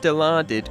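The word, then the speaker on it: Dilaudid: Now, it's pronounced delarded, but when you look at the word, your first attempt would probably be deluded.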